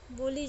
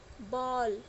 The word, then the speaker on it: बॉल: इसका उच्चारण औ की तरह होता है। जैसे बॉल, बाल भी बोल सकते हैं लेकिन बाल नहीं बोलते हैं, बॉल, इसका उच्चारण क्या है? बॉल है।